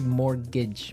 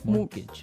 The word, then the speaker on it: mortgage: with a t yeah it has a t in it but you don't pronounce it you say morgage morgage so not Mort mortgage